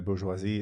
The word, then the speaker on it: bourgeoisie: I think the bourgeoisie is a fantastic. It took me a moment to remember my pronunciation.